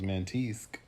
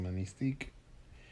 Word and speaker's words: Manistique: At first I thought it was Mantisque, and then I was like, is it Manistique?